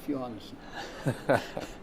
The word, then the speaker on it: Johannessen: Johannessen.